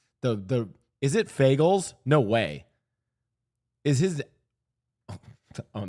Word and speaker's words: Fagles: Okay, I'm not trying to say a slur, but I literally think his name is pronounced Fagles.